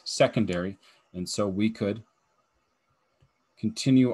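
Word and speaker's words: 2°: you would pronounce that the symbol is two with a degree the pronunciation is secondary and so we could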